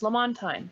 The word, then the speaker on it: Lamontagne: name like um like my last name is lamontagne that's how i say it but everybody always asks